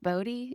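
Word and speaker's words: Bodi: Is it pronounced Bodhi?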